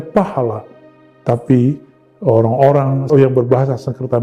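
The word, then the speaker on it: phala: kita gunakan adalah pahala pahala itu jika ditulis PH a l a kita membacanya pahala tapi orang-orang yang berbahasa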